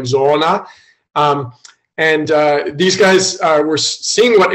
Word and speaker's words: Zoona: And it's Zoona is like a Zambian word that means it's real. The Zambians would actually pronounce it like Zoona.